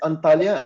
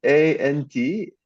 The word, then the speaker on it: Antalya: It's Antalya, and you spelled Antalya in the Greek way. It's spelled a little different, but it's fine.